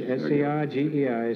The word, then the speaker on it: Sergei: How do you pronounce it? Sage? S-E-R-G-E-I. Sage? Sergei. Prokofiev's profession.